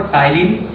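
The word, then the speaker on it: ptyalin: ठीक है, इसके टाइलिन की स्पेलिंग पी से शुरू होती है और दूसरा होता है एमाइलेज।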